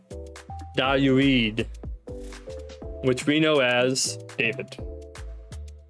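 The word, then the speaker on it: Δαυίδ: That's a delta, an alpha, an upsilon, an iota, and another delta. And so that is Dayuid, which we know as David.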